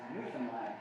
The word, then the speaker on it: Newfoundland: So we've learned to pronounce it right. It's Newfoundland. Newfoundland. It's not Newfoundland.